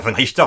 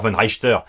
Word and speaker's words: Von Reichter: Non, pas Von Richter, Von Reichter! Dans la série, il prononce Von Richter mais c'est Von Reichter.